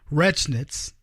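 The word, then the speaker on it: Rechnitz: about a donor a guy named Jonah Rhett wretch knits things that's how they say his name when this is a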